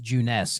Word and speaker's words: Junes: Well, because then you get to the commercial for Junes, which Junes, it's spelled Junes, just June with an S, but it's pronounced Junes.